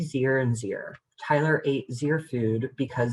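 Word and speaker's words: ze: A new one for folks on this call might be Z, Zir, and Zir. Tyler ate Zir food because Z was hungry. Again, Z is pronounced Z-E-E, and Zir is pronounced like here.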